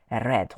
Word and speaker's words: read: Lekin faqat o'tgan zamonda ishlatayotganimizda bu yoqda qavutchda ham ozib bo'lgan red xuddi qizilga o'xshab mana yozgan pronounced it'ni read red deb talaffuz qilamiz.